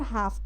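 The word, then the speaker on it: half: The next time से लेकर के अदर्स अदर हाफ तक पढ़ेंगे। यहां पर एल साइलेंट है।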